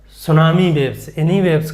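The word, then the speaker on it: tsunami: ले लिया जाता है टी साइलेंट रहता है तो सुनामी वेव्स इन्ह बोल देते हैं थोड़ा सा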